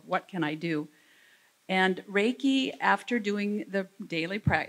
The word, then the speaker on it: reiki: symbols you can see the first one is rey which simply means universal basically god's wisdom it also could mean that or translated as that and the second syllable is ki or chi and it comes from meaning life energy so those are the